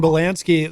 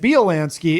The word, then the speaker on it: Bielanski: But the way I was saying it, Bielanski is actually the, yeah, that's how you say it correctly in Poland, and it is a Polish name. So I'm doing the Midwestern Americanized accent version.